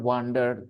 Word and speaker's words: wonder: Wonder it's wonder wonder just like sun one Wonder okay so it